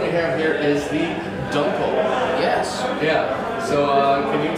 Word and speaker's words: Dunkel: And Dunkel, or Dunkel, correctly pronounced in German means dark, so it's a dark German lager.